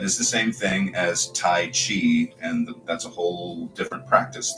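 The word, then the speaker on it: 太极: called right it's really in modern Chinese pronounced Dai like a d and a j not taii but it depends on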